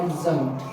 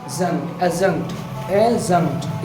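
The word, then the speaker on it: adjunct: एडजंक्ट बोलते हैं, एडजंक्ट, एजंक्ट, ए के बाद डी क्या रहता है, ए और जे के बीच का डी क्या रहता है, साइलेंट रहता है, ठीक है, इसलिए बोलेंगे एजंक्ट, ठीक है।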